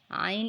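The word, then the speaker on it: ع: Ain is a light sound and long letter. It is pronounced from the middle of the throat.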